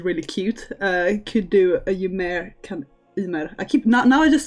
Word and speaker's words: Ymer: I will not pronounce Ymer as Ymer like all the English people say. In Swedish it's Ymer.